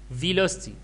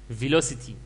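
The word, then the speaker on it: velocity: فيلوستي وفي ناس بتنطقها فيلوسيتي، يعني بيقولوا سيتي فيلوسيتي، فيلوسيتي او فيلوستي، يعني في يعني بينطقوها كده وبينطقوها كده على اساس ان امريكان وبريتش وكده يعني.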